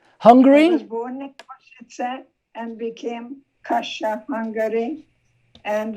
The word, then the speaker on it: Košice: As we start the story of your youth growing up in Košice, I believe it's pronounced? Yes. Hungary? I was born in Košice and became Kasha, Hungary.